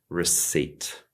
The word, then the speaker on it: receipt: We definitely need to make this completely silent. We want to say receipt.